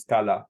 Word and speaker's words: Scala: I think the pronunciation of the tool is Scala actually, but this person has got almost like